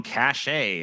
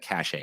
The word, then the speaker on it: cache: reveals picture was among cachet of uh i'm sorry i always want to say that cachet but it's actually pronounced cache of messages inadvertently handed